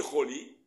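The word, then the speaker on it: חולי: Mais dans la Torah, il n'y a pas marqué le vav. Il est marqué, il se dit choli, mais il n'y a pas avec le vav.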